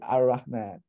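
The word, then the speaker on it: الرحمن: So the thing in Arabic is that the Uthmani script assumes that you know that if you see this alif lam construct, if you have to pronounce it, it's going to be an a. You say Ar-Rahman.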